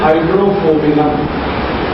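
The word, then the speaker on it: Hydrophobinum: दवा का नाम है हाइड्रोफोबिनम। मैं स्पेलिंग बोलता हूँ HYDRO, HYDRO, फिर उसके बाद PHO, P for parents, PHO, BI, ये भी वाला BINUM, हाइड्रोफोबिनम, ये दवा है।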